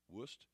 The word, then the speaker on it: Wurst: It's well known for its German sausage, Wurst, pronounced Wurst, and fantastic barbecues.